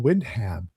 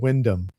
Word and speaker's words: Wyndham: majority of my life my favorite author I was mispronouncing his name. Uh until I started meeting some of my UK friends here. Uh it was John Wyndham. Yeah. Instead of Windham.